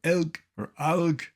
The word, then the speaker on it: elk: Okay, here is an elk. It really is. This name, pronounced variously elk or alg in Europe, is correct.